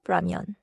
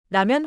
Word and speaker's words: 라면: The first syllable is 라, not English ramen. 라면 하나 주세요.